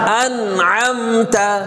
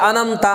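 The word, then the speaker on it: أنعمت: সিরাতাল না, সিরাতাল সিরাতাল্লাযীনা আনআমতা, অনেকে বলে আনামতা আনামতা, আবার দুইটাই হামজা বলে আন আমতা, আন আমতা না, আন আমতা, প্রথমটা হামজা দ্বিতীয়টা আইন, আন আন আম আম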